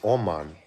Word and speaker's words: Oman: Well, in English, it's Oman. My mom telling me what the pronunciation should be.